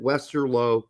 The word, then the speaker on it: Westerlo: with Napoleon has two o's and I said Wester low has one o thus it's pronounced Wester now Wester L and I think